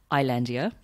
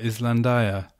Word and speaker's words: Islandia: So you released your debut album, Islandia. Yes. Got the pronunciation right. Nailed that. Well, I remember because I had to say it in the very, very first podcast episode. Oh, really? And you're like, Islandia.